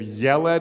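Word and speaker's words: ילד: form the same pattern there are a bunch of words in Hebrew that when you make them feminine the e sound changes to an ah so you have I'm doing the vowels with my fingers so you have yelled as a boy and yalda you have Melech is a boy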